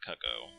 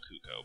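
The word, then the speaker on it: Cucco: go back up to mount cako I actually pronounced it Mount CUO before I think which is the wrong pronunciation but what El we're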